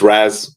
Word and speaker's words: Raz: Is it Raz or is it Raz? It's Raz. My mom calls me Raz, but whatever.